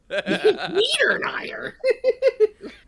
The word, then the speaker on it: Niederreiter: That But I'm those- sorry, pronounce that again. Niederreiter.